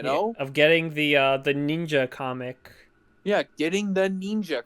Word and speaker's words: Neenja: No, the I Want to Be Neenja comic. That's what matters. I just thought about how she always goes out of her way to pronounce ninja as ninja. Every time. It's Neenja.